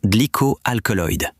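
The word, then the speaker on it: glycoalkaloid: The concern is that greening, sprouting, and damage may accompany increased glycoaloid, pronounced glycoal alkyoid.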